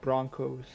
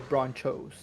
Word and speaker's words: Bronchos: have an interesting point why do you say broncos like broncos when it's spelled like nachos so should we say nacos or bronchos well i mean it's